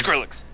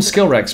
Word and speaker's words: Skrillex: kill you dude yeah i've always called him skill rex but it's skrillex s-k-r-i-l-l-e-x i even know